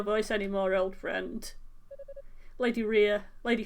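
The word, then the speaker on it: Reah: Lady Rhea, Lady Fina.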